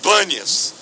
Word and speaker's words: Banias: a explicação de que o nome é Pan mas ficou com B porque os árabes não pronunciam bem a o p então virou banias mas é um lugar